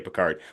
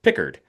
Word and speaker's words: Pickard: So, I think yes, we see we see a Pequard, which I believe is actually pronounced Pickard when he was here. Pickard.